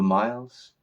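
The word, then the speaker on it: Mils: for short me the miles that's the name that we're transmitting m i l s and we are aware that it will be pronounced This Way Miles and we are also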